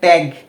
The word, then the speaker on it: ত্যাগ: উচ্চারণটা হবে ত্যা ত্যা যদি কোন শব্দের শুরুর বর্ণের সাথে জফলা আকার থাকে বা জ ফলা থাকে তাহলে তার উচ্চারণটা কেমন হবে এ এর মত সেই হিসেবে এই ত